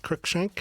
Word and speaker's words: Cruikshank: Did I pronounce that right? Crookshank.